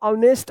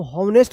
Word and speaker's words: honest: अगर कोई बोलता है आप ऑनेस्ट लिखिए, तो ऑनेस्ट आप ऐसे लिखेंगे HONEST, ऑनेस्ट। इसको हॉनेस्ट मत पढ़िएगा, ठीक है।